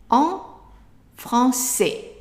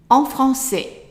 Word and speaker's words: français: So en, franc, and then the C has a CD, which means that it will always be pronounced as a S sound. So that's S. And then the AI is an A, right? And the S at the end is silent.